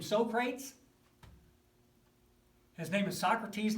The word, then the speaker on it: Socrates: so prates has named Socrates not Sokrates if you pronounce it Sokrates do not tell them you took RCA at Saint Barnabas tell them II took it at st.